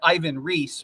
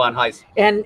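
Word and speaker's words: Ivan Reis: People know him as Ivan Reese, right, but by his own pronunciation, right. Okay. It's Ivan Heiss.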